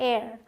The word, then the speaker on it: heir: होता है उत्तराधिकारी, तो इसे आप हेयर नहीं बोलते। मैं जब आपको अभी मिस प्रोनाउंस्ड वर्ड्स बताऊंगी उनमें भी ये सारी चीज़ें आएंगी। इसे हेयर नहीं, इसे एक्चुअल में पढ़ा जाता है एयर, ठीक है।